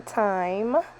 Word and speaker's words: thyme: paprika Italian seasoning some thyme I know some people pronounce it thyme listen the H is silent sometime he has some